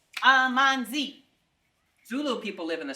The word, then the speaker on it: amanzi: Amanzi is the Zulu language. 3 syllables. Amanzi.